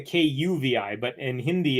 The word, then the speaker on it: Kavi: so my name is it's spelled k-a-v-i but it's pronounced Govi or kavi which is more like a kuvi but in Hindi it's